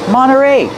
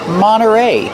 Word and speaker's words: Monterey: Monteray. You have nt. You don't hear the T when it's between vowels. Monteray. You can say Mterrey, but you'll usually hear Monteray.